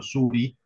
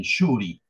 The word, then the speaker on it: suri: Nosotros decimos en castellano suri, pero en realidad ellos lo pronuncian shuri. Y esa esa sh es lo que los españoles escriben con X.